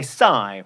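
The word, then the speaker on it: Psy: and speaking of memes it's Gangnum Style by Sai which Meredith will now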